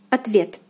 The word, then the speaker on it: ответ: Ответ, ответ, ответ. The second syllable, the vowel ye, is under stress, so the first O, which is unstressed, is pronounced as A.